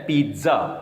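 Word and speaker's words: pizza: ये लिखा होता है पी आई डबल स ए कुछ लोग इसको पिज़्ज़ा कहते हैं अल में इसका प्रनंसीएशन है पिज़्ज़ा ये चूंकि एक फॉरेन शब्द है पिज़्ज़ा लिखेंगे पिज़्ज़ा लेकिन पढ़ेंगे पिज़्ज़ा नेक्स्ट जो हरि पट्टी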